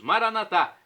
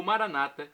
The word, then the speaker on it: Maranatá: Agora eu clamo do aramaico dialeto de Jesus, Maranatá, como dizemos nós católicos com a tônica na última sílaba, ou Maranata com a tônica na penúltima sílaba, como dizem nossos irmãos separados, os evangélicos ou protestantes. Não importa a pronúncia, o significado é o mesmo.